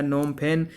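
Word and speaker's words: Phnom Penh: दूसरा इंपॉर्टेंट शहर जो है वो है नोमफेन। पीएच साइलेंट है।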